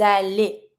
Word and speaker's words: allez: You go, vous allez. Same thing, I link with my S and I pronounce my EZ like a E.